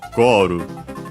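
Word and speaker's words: ゴール: As already mentioned, the accent should be on the first syllable, just like in English it is. So Goru, high, low, low.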